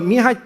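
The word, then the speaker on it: Mihaly: by the name of mihai chiksan mihai so mihai that's actually the correct way to pronounce his name you know so i actually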